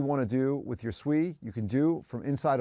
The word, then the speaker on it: Sui: It's like sweet but without the tea. So sui is a Japanese word for water.